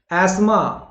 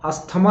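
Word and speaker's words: asthma: अगला शब्द देखते हैं, एस्मा। अस्थमा नहीं होता, बीमारी होती ना एक प्रकार की, सांस की जो प्रॉब्लम होती जो प्रियंका चोपड़ा को है, ठीक है ना, और तो वो एस्मा होता है, एस्मा उच्चारण करके भी आप लोग देखिए, एस्मा, तो अस्थमा नहीं बोलेंगे, एस्मा बोलेंगे, क्लियर है।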